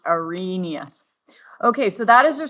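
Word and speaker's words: Arrhenius: It's not p pronounced arhenius. It's pronounced arenous.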